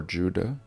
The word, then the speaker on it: Judah: verse in Utah or Judah of course there was no J so it would have been pronounced more like a y and sure enough we